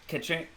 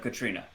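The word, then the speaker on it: Caitríona: So Katrina Balfe, I think it's the Irish version of Katrina.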